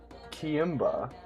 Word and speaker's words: Kiimba: Kiimba, pronounced Ki-imba, like Queen and Ki and Marimba. That's very interesting.